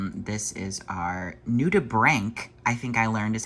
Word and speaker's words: nudibranch: This is our nudibranch, I think I learned is how you say it.